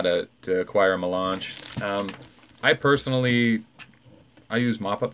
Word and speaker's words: Melange: Melange. I'm sorry. Melange. That's the proper pronunciation.